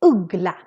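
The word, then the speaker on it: uggla: on the other hand the u is really really short because we have more than one consonant coming after we actually have two g's coming after so the word would be ugla so let's compare this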